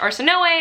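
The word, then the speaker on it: Arsinoe: Catherine is Katarine and Arsenault is Arsenoe, I think is one of you guys told me in my bookshelf tour, and you told me that it's actually pronounced Arsenoe and that it's actually an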